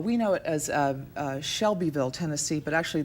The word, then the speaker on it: Shelbyville: know it as a Shelbyville Tennessee but actually the locals in Shelbyville pronounce it like like a shovel it's like June day